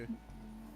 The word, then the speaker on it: Chihaya: Chihaya.